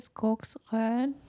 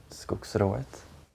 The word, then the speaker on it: Skogsrået: How do you say Skogsrön? Skogsrået. Yeah. Sorry for the mispronunciation.